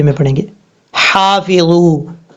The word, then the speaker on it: حافظوا: لہجے میں پڑھیں گے۔ حافظو، حا الف زبر حا، فا زیر فی، ضا و بزو، حافظو، ہا بریک پڑھا جائے گا، اور یہ جو جہاں سے ادا، جس حلق سے ادا ہوتا ہے اس